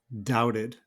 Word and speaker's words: doubted: one is doubted doubted notice again I'm changing the T to a D sound doubted then we also have